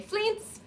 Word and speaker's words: Fleance: Enter Banquo and it's pronounced Fleance, but I really like to say Fleance, Please.